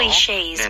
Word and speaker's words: clichés: 그리고 발음할 때 클리셰가 아니죠? 네, clichés. 영어로 발음하면 네, AYS처럼 끝내셔야 돼요. 이렇게 늘려서 하는 발음이 느껴지네요. 네, 그렇죠? clichés.